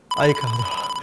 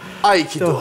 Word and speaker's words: Aikido: Telaffuzu önemsemeye gerek yok. Neymiş? Aikado. Aikido.